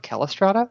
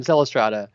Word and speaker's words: Celestrata: and they be like you're not you're not krata and I'm like no I'm not K I'm I'm celestrata and I realized they all thought that I had um the Elvish pronuncation of the name like caliborn right right right so